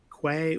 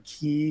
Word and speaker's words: Quay: Now, having a global registry is also important, and that's provided by Red Hat Quay or Key, however you pronounce it where you are.